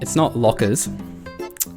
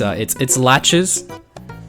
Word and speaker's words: Lachurs: It's not Lachurs. Although it looks like it should be. It's Lachurs. You actually pronounce the ch.